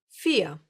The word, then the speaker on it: vier: Yes, the Germans will most of the time pronounce this letter like you would pronounce the English F.